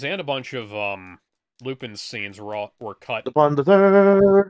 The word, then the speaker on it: Lupin: third first time Horizon they're pronounced well they're sort of pronounce the same it's pronounced upon for Lupine the third but it's a tomato tomato kind of thing yeah because it's a French pronunciation yeah and it's spelled